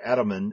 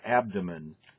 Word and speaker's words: abdomen: uh you had a very interesting pronunciation of adomen for abdomen uh you know it's not your adomen it's your abdomen uh also uh you